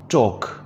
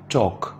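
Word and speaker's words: talk: टॉक बात करना, एल की साउंड नहीं आएगी, साइलेंट है, टॉक।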